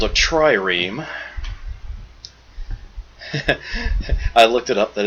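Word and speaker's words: trireme: So, this gives me access to a tiny little boat called a triam. I looked it up. That is how you pronounce it.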